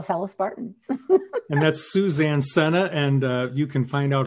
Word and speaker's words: Sena: uh well a fellow spartan and that's suzanne senna and you can find out a lot more